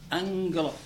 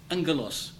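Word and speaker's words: ἄγγελος: Anglos. G double g in Greek is pronounced ing, like that. Anglos.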